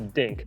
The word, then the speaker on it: dink: It's actually called a dink. It rhymes with? Sink. It rhymes with? Holy cow. It does not rhyme with holy cow, okay? It rhymes with blink. So here's the next shot, it's dink.